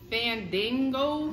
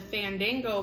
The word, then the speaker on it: Fandango: Pineapple fandango? Yeah. Fandango? Yeah. Like dang? Yeah.